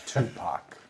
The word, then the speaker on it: Tupac: It's Tupac. Tupac. Yeah. At least that's what we say in Wisconsin. It's the corn-fed pronunciation.